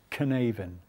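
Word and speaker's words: Cynefin: which is spelt c-y-n-e-f it's a welsh word i think it's pronounced canaven but let's go with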